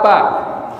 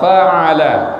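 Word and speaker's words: فَعَلَ: Alam taro kaifa pa. Harusnya gimana? Alam taro kaifa fa'ala.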